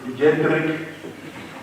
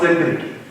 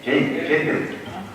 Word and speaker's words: Jedrick: We shall now call upon Honorable Jedrick, not Cedric, Jedrick Sishok. It must be pronounced properly because I know honorable members will always say Cedric. It's not C, it's J, Jedrick.